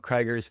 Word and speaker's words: Crigger: And the most wonderful thing about Crigger's is she's the only one. Crigger, welcome to the show. That's not how you say my name. Oh my God. It is Crigger. Like Kigger, Crigger.